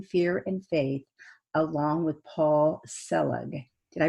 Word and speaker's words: Paul Selig: upcoming films facing fear and faith along with paul selig did i pronounce that right you did yes great and